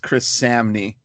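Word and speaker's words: Chris Samnee: get into issue 3 one done by it's pronounced Chris Samy uh he's an artist that I first like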